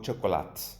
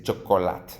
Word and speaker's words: chocolat: Las T's al final de las palabras, como las S no se pronuncian, ¿eh? No se dice un croissant o un pan o au chocolate, ¿vale? No se dice chocolate.